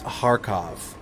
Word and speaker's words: Kharkov: The K is silent. It's Kharkov.